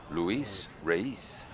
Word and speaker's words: Luis Reyes: is race it's funny luis reyes there's only eight letters in that name but if you say it properly you're using about five syllables luis raise number 24 in for